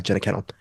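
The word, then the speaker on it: Jenna Kanell: 17th, directed by Raymond Wood and headlined by Jenna Cannell. That's how you pronounce her name.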